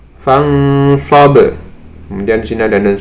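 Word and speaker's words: فانصب: Contohnya di sini ada nun sukun bertemu dengan sob, membacanya adalah fangsob, fangsob.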